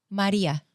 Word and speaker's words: Marija: who don't know but how do you pronounce it Maria oh but our J is y Maria okay so that's how